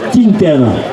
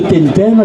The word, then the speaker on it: tintaine: la totalité c'est une tintaine. Pas une tintaine comme disent certains, c'est une tintaine. Petit rappel, puisque en Provence, le I se prononce I et le U se prononce U.